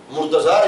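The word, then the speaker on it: مرتضیٰ: Murtaza is how we pronounce in Urdu, Punjabi. But in Arabic is al-Murtada.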